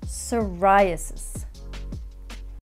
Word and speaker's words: psoriasis: words after me and remember the p is silent pneumonia psychopath receipt raspberry and psoriasis next phrasal verb is